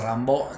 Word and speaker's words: Rimbaud: también del siglo 19 Arturo Rambo se escribe Rimbaud aunque se dice Rambo decía yo es otro